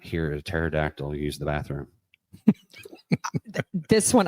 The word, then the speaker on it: pterodactyl: Why can you not hear a pterodactyl use the bathroom? This one I would have absolutely no idea. Because he doesn't fit in one. Because the P is silent.